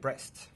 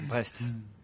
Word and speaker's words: Brest: They played against Brest. Oh, I said it with an English accent. That would be Brest.